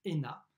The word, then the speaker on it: ENA: de paris lena l'ena eux n a qu on prononce ena ça veut dire école